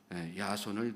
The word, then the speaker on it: 야손: 그러나 찾지 못하자 야손을 대신 잡아다가 오게 가두게 됩니다. 야손이라고 하는 사람은 히브리어로 예수라고 하는 이름인데 헬라어로 야손 그렇게 발음합니다.